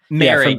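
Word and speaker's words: Moehrig: You mentioned Morik. Is that how you say it? Merrick, is how you say his name? Yeah. Merrick from TCU.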